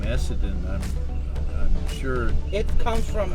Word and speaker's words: Essendon: It's spelled E-S-S-E. E-S-F. E-S-S-E. E-S-S-E. Essa. Essa. No, E-S-S-E-N-D-O-N.